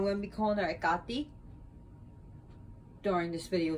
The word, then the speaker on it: Hekate: it got i'm going to be calling her ekati during this video said did you know so